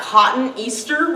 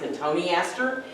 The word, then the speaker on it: Cotoneaster: It looks like cotton Easter when you look at the name, but it's actually pronounced Cotoneaster.